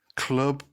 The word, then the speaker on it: Clwb: So apparently you say L and W. So for those who don't know, it's spelled CLWB. But apparently the L and W you say is club. So lo word. So yeah, well the Welsh thing makes sense now you've said it.